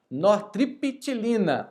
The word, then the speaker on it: nortriptilina: Vamos lá, pessoal, nós temos que falar certo essas medicações. Amitriptilina, nortriptilina, o P é mudo, tá?